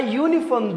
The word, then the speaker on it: uniform: the example here a uniform though it begins with a vowel it doesn't sound like a vowel it sounds like you it doesn't sound like